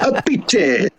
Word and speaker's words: Appice: Appice. That's how you pronounce it.